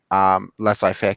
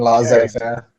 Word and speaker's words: laissez-faire: This, in a sense, this is like market regulationism is inherently anti laissez-faire capitalism. Yeah. Right. Yeah. Sure. I think you mean laissez-faire. Laissez-faire. Yeah. Whatever. I mispronounced it.